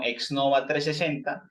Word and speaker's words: Xnova 360: y en redes sociales nos pueden buscar como exnova 360 se escribe XN o v a y 360 número